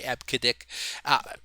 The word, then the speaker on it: EBCDIC: a silly name okay it actually is pronounced that way ebcdic you know it just